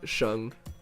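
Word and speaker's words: Shang: Um, it's it's just pronounced like Shung.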